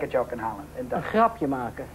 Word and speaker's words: grapje: Een grapje maken. Een grap? Grapje. G-R-A-P-G-E. Grapje? Grapje. Grapje. Grapje. Is grapje. Een A. Grapje.